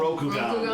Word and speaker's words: Rokugan: Rokugan. Rokugan, dude. Keep Bakugan. fake Japan. It rhymes with fake Bakugan.